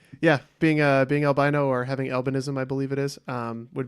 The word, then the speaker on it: albinism: Did I say it wrong? I believe it's albinism, yeah. Albinoism.